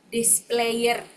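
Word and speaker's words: desployer: Berasal dari bahasa Prancis kuno, displayer bacanya.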